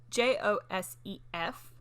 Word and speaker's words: Josef: oh it's but it's you don't say joseph it says it's j-o-s-e-f but when i heard people pronounce it and i guess for australia austrian it would be yosef yes so or like